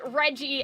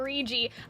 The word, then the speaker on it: Reggie: realized that maybe now your name is supposed to be pronounced Reggie and not regi okay it's February 2nd